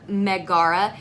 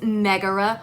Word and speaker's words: Megara: like oh my god I put the emphasis on the wrong syllable on YouTube I'm